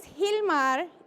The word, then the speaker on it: Gilmar: So my name is Gilmar. It is spelled with a G, but it is pronounced like if it was an H.